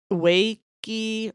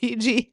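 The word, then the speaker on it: Wege: Um they have the wakey pretzels. Okay, I grew up calling them the Ouija pretzels. Apparently they're WGI. See, I've been mispronouncing stuff all my life.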